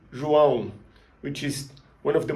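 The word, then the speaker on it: João: Have in mind, the sounds comes from your nose. If you pinch your nose when you say it, you're gonna feel it vibrating.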